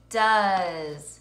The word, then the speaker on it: does: Does. Let's read it. Does. Spell it.